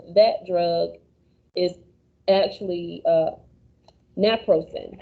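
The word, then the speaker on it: Naprosyn: drug is actually uh napro sin which it sounds just the same but the ending is spelled differently uh when nsaids are taken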